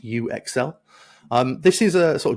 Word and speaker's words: UXL: so yeah that is a pun on user experience and excelling uh pronounced U Exel um this is a